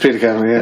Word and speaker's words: Peter Kavanagh: Do I pronounce that right, Peter? Peter Kavanagh. It's just Peter Kavanagh, yeah.